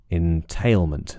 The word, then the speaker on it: entailment: very quickly um just make sure that the first syllable is I and not e so in and make sure the last syllable is mint mint with a schah not meant so that your lips should be relaxed it's very weak sound meant entailment and tail is stressed uh but we are